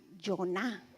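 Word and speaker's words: יונה: Dice, "Él nació en una localidad Galilea y su nombre en hebreo se pronuncia Joná.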